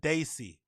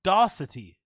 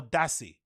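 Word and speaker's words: Dassey: a s e y he says darity there's no T there's no C it's just Brendan Daisy or dassi depending on how you want to pronounce it d aou s e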